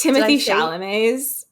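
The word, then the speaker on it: Timothée Chalamet: These Timothee Chalamets.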